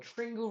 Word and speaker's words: Tringle: Tringle rhymes with Pringle.